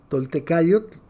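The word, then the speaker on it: Toltecayotl: Se escribe Tolteca, Tolte, y luego C-A-Y-O-T-L, Toltecayot, AC, donde ahorita ya rebasamos los 39 millones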